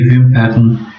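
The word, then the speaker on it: Wimpern: ورسره یو ځای کېږي، یا که ووایاست چې ډي ویمپن یعنی آر دلته ډېر کم تلفظ کېږي، نو هغه بیا یعنی باڼوګان، یعنی د جمع حالت ده باڼوګان.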